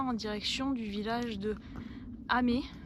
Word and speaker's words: Amen: direction du village de amé alors ça s'écrit amen mais il paraît que ça se dit amé je connais pas du